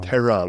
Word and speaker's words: Tehran: Tean. There. There's supposed to be that soft H in there.